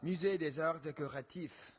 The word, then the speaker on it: Musée des Arts Décoratifs: Musée des Arts Décoratifs.